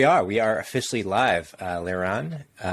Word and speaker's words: Liran: We are officially live, Liran. Liran. Did I mispronounce that right off the bat? Liran.